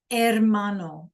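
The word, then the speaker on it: hermano: Mano. The H is silent.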